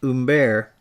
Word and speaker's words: Hubert: the chapel of saint umber and it's spelled with an h but the french don't pronounce it it was done in 1493.